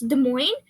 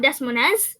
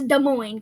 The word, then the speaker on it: Des Moines: But the S is in both words is silent, so it's Des Moines. It's not Des Moines, it's Des Moines, guys.